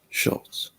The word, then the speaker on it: Schultz: Schultz. Schultz. There you go. Thank you. I was having hard time pronouncing it.